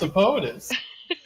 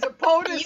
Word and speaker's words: Ippotis: Well, That's not how you pronounce Ippotis. it was Ippotis You and need to-